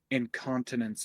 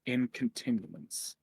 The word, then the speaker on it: incontinence: you just pronounced incontinence as incontinuance.